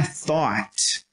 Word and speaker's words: thought: O som é thought. G-H no meio da palavra, nunca tem som.